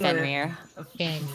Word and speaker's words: Fenrir: Because I can't think of how to pronounce the giant dog from North mythology. Mythos? Fenrir? Yeah, Fenrir. It's Fenrir.